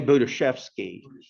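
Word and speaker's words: Budziszewski: Jay Budiashevsky.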